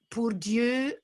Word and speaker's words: pour Dieu: three of those here um sweet beautiful lady purdue na ponci smear um purdue is like poor